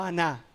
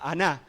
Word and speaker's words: Aná: En la descendencia de Esaú aparece este personaje que se llama no Aná, sino eh no Ana, perdón, sino Aná. Acento en la segunda Aná.